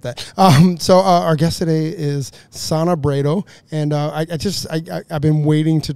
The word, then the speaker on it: Sonna Brado: So our guest today is Sonna Brado, and I think I nailed it.